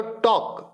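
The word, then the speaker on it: talk: बोलो टॉक. इसमें भी साइलेंट क्या है? L. बात समझ में आई?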